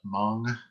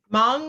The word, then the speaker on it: Hmong: way of doing it mong is the correct pronunciation and it's different than vietnamese thank you very much